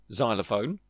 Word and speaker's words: xylophone: Instead, soften to a Z sound as in xylophone.